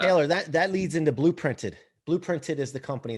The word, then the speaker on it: Blooprinted: Blooprinted is the company. It's BLOO printed. It's not spelled with like UE.